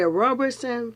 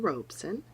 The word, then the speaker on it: Robeson: african-american is Paul now am I to say Robertson but there's no are i misspell it for you is our OBE son039s during